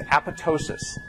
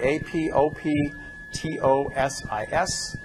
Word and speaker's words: apoptosis: suicide is known as apotosis the most mispronounced oun word in all of biology a p o p t o s i s the second p is silent it's not apoptosis despite